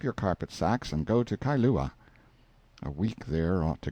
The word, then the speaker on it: Kailua: We landed at Kailua, pronounced Kai-lu-a, a little collection of native grass houses reposing under tall cocoanut trees, the sleepiest, quietest, Sundayest-looking place you can imagine.